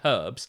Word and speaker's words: herbs: that and I say herbs, someone said um you don't pronounce the H in herbs and I was like I wanted to say so many things, Jeremy, in response to that.